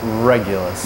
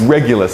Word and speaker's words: Regulus: Regulus. Regulus, like regular, right?